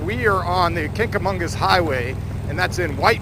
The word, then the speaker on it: Kancamagus: So we're gonna, okay, I'm gonna pronounce it. Kancamagus Lodge. How the hell do you say Kancamagus? Kancamagus.